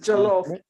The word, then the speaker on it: jollof: Pronounced jollof.